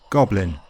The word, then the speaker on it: goblin mode: It's also a compound, and like most, the stress is on the first word, goblin.